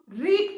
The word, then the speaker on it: read: Spelling same है, बट R-E-A-D को हम रीड पढ़ते हैं प्रेजेंट टेंस में, और पास्ट टेंस में हम इसको R-E-A-D को क्या प्रोनाउंस करते हैं? रेड.